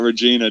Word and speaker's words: Regina: his his town name it's not Regina dude it's vagina my apologies Graphics like vagina but with a re you damn Americans so